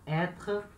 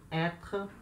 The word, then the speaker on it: être: A pronúncia desse R aí é lá na garganta. Então, être, être, certo? Acento circunflexo no R, com som de é, être.